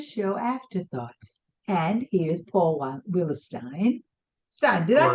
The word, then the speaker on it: Willistein: about the derivation and the E is before the I, so it's supposed to be pronounced like Bernstein, so it's supposed to be pronounced like Willistein.